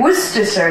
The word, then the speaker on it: Worcestershire: That's how you say it, Worcestershire sauce.